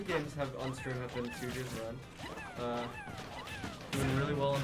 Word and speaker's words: Sujia: So we got Sujia, am I pronouncing that correctly? Yes. Makes sense. Sujia and Klaatu.